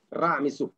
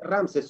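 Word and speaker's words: Ramsés: No podían decir, por ejemplo, el nombre del famoso rey egipcio, Ra, Mesú, hijo de Ra. Ra, ¿esto qué significa? Ra, Mesú. Decían Ramses. Y hasta ahora se dice Ramses según la pronunciación griega, ¿ok? El famoso Ramses II. No se llamó Ramses, se llamó Ra, Mesú. Esto es un nombre correcto, ¿ok?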